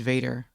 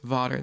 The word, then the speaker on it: Vaeda: Vaeda Well, that guy's name is Vaeda. I think it's pronounced Vada though.